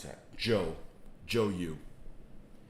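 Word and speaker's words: Zhou: how to pronounce that joe joe you z z-h-o-u is joe since you like the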